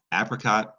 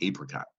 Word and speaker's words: apricot: Okay, these are the words appreciate and, depending on where you live, apricot or apricot. Right? I learned that in the eastern United States, people tend to say apricot, and in the western United States, they say apricot.